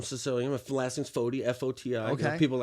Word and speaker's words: Foti: My last name's Foti, F-O-T-I. Okay. You know, people are like, how do you say Foti? I say the gang, the ghetto way of 40. Foti.